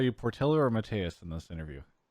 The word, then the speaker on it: Portilho: I'm joined right now by Mateus, although you go by Portillo, right?